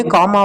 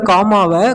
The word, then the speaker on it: comma: அந்த சென்டென்ஸ் முடிஞ்ச உடனே காமா வைக்கணும். When I entered the room, comma, the lights went off. Students இந்த காமாவை கமா அப்படின்னு தப்பாக ப்ரொனவுன்ஸ் பண்ணுவாங்க. அதை சரியாக காமா அப்படின்னு தான் சொல்லணும்.